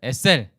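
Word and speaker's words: עֵזֶר: 뜻이에요 법는 자는 뜻이에요 히브리어 발음 여기서 중요하니까 여러분 따라 세우겠습니다 에셀 약간 유성은 위기 늘 sl 이렇게 하면 더 좋은데 그냥 우리나라 이성 없잖아요 그러니까 그냥 sl 이렇게 하겠습니다 에셀 sl 또는 sl 이건데 여러분의 셀 익히는 익혀보세요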